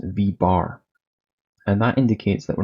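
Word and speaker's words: v̄: little bar on top so this term is pronounced V bar and that indicates that we're not talking about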